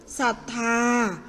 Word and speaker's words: ศรัทธา: ศลา ควบ รอ เรือ อย่าง เช่น เศร้า ศรัทธา ปราศรัย อาศรม เศรษฐี นะ คะ จะ อ่าน ออก